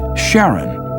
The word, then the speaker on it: Charon: in greek mythology but preferred to pronounce it sharon more like his wife's name charlene from the motions of pluto and charon astronomers could work out